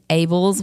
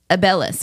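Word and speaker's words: Abeles: Then my maiden last name, Abels, which phonetically should be spelled A-B-L-E-S, but my grandfather decided to randomly stick another E in there. So Probably it's someone before him. A-B-E-L-E-S, Abellis, which is not how you say it.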